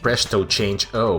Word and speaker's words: Presto Change O: It's pronounced Presto Change O, but feel free to call me Presto.